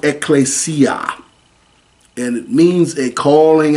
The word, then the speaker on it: ecclesia: It's pronounced ecclesia and it means a calling out that is